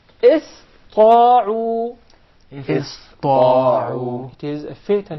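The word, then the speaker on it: اسطاعوا: So it will be pronounced as sin, not sad. Okay. إِسْطَاعُوا.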